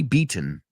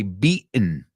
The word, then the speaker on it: beaten: If you're British, you say the T, beaten. Americans say beaten, beaten, beaten.